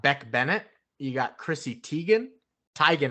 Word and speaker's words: Teigen: Bennett you got Chrissy Teigen tygan actually she's corrected everybody on how to say her last name it's tygan that doesn't sound as